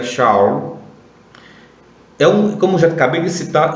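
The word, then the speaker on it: שאול: O que aconteceu é que Saulo, que é um nome hebraico, que se pronuncia Shaul, como já acabei de citar, é um nome hebraico.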